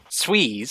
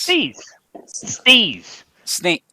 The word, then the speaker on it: steez: Sweeze? Steez. Steez. Spell it for me.